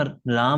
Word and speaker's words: राम: आप पाएंगे कि आप रा को ज्यादा खींच रहे हैं और म छोटा जा रहा है। और यही सही तरीका है उच्चारण करने का।